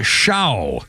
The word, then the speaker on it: Show: Our birthday list includes Grant Shaw, S-H-O-W. I think you pronounce it Shaw.